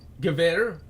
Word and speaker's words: Gewehr: my STG-44, and my Gewehr 43. See, I know how to pronounce a lot of these words, actually. Because like, I know V's, no W's or V's in German.